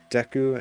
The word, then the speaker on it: Deku: from this uh i used to say like deku and gerudo wrong for learning japanese stuff i'm